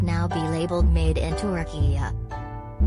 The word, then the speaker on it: Türkiye: values he said turkey is pronounced turkey in line with how turks enunciate the country's name the president and his